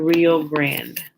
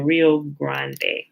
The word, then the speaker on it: Rio Grande: found in north america near the rio brand or the the rio grande not particularly sure i've heard it pronounced both ways i think it's the